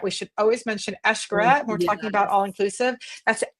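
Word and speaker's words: Xcaret: And then if you start getting into um oh Eshkaret, we should always mention Eshkaret. We're talking about all-inclusive. That's Ashkaret with an X. Xc if you're wondering how you pronounce it. It's Eshkaret.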